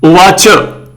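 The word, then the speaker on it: उवाच: Shri Bhagwan Uvacha. Cha has no halant. So we'll say Shri Bhagwan Uvacha.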